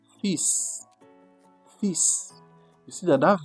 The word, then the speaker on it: fils: But if you are talking about threads it will be fil. Fil. But now in case now that very word is to mean now son pronunciation is completely different. It will be what? Fis.